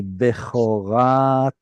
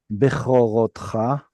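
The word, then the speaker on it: בְּכֹרָתְךָ: How did I know that it should be Bechoratecha instead of Bechorotcha?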